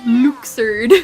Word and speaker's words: Luxord: Luke sword looks not luxord yeah how they pronounce it is really weird I'm like why are you doing this to me it's luxord anyway I liked him in this I think